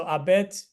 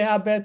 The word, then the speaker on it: habet: to aspirate right so abet if you say abet it's okay but you can probably sense it's very faint so you don't say